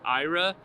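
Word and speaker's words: Aira: service Ira 14.40 I'm going to be using Ira which says is spelled a i r a it is a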